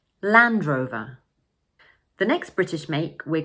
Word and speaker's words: Land Rover: In the second word, in British English, we don't normally pronounce the final "r" sound, and instead, we use the Schwa sound: "Uh" So we say: